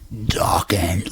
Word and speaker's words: Dokken: Dokken, ladies and gentlemen. Rhymes with rockin'.